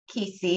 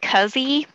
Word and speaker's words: Keesee: Keesee. I hope I'm saying that right. Is it Keys or Keesee? Did I get it right? It's actually pronounced Cuzzy.